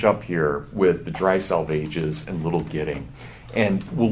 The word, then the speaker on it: Salvages: Salvages is pronounced to rhyme with assuages.